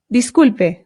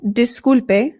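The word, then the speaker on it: disculpe: apologize is by saying disp dise dise this just means excuse me now in Spanish the I always makes the sound e e so this is not dise it is dis also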